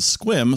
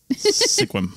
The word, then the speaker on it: Sequim: similarly confusing place in a little bit called Sequim, spelled Sequim. Mm-hmm. Yeah, I definitely said Sequim the first time when you looked at me like, yeah, what? And I'm like, yeah. Sequim.